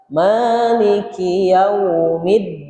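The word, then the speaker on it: مالك يوم الدين: Maiki yaumiddin. Yang yang ditekan hanya huruf dal saja. Maliki yaumiddin.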